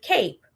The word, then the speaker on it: cape: Okay, so the way you can tell the difference is so, for example, with the word cape, the E is silent because it tells the A to say the name.